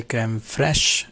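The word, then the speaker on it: crème fraîche: sensation of a creme francis we say actually creme fresh i mean in english you can say creme fresh but the main pronunciation of this is kramer french this is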